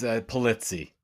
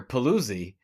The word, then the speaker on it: Pulizzi: It's pretty close. You can get away with that, but it's Pulizzi. Pulizzi. I'm Greek. I can't even say it correctly. You know what? It's funny. Most of the time I hear Paluzzi. I mean, you were close. So like if you were in Sicily, that's exact.